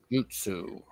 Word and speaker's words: Jyutsu: Jutsu. Okay. Yeah. Think of that like J-Y-U, Jew, you know, almost like Jew, like Jewish, but not exactly.